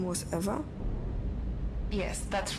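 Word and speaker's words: Ewa: don't mind did you say your name was eva yes that's right so you have the same name as the thing could you please not compare me to a lifeless machine besides eva is spelled e w a not e v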